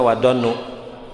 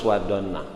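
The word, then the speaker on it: والظنَّ: hati-hati wadonna dengan sangkaan tidak boleh bacanya wadonu itu harus wadonna wadoni Kenapa tahdir Mun di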